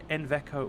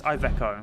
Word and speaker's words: Iveco: inveco so uh oh iveco wait inveco or have I been calling it it's iveco it's oh my God Joe